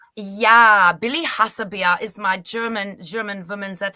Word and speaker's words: Hassebier: Did I pronounce that correctly? Yeah, Billy Hassebier is my German woman that I play.